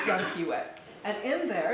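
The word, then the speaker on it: Llanquihue: where they rear smolts, called Lake Yanquiwe, and it's spelled double L-N-A-N, so Lake Yanquiwe.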